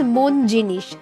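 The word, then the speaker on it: Monginis: ही था कोलकाता में मुंगिनिस की पहली store. But the name मुंगिनिस changed. In Bengali pronunciation it's मोनजीनिश something from hard.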